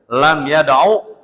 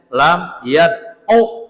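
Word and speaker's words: لم يدعُ: Sehingga bacanya lam yadu. Udah unya pendek jangan dipanjangin. Kalau dipanjangin salah. Lam yadu gitu.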